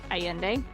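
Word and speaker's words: Allende: the name Carlos aende spelled Al l l n d alende but I'm trying to pronounce it aende um he told the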